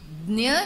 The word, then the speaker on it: ज्ञ: वास्तव में उसमें च छ ज झ ञ, इसमें से ज और ञ ये दोनों को मिलाकर बनता है यह संयुक्त वर्ण, और इसके लिए उसका उच्चारण है ज्ञ।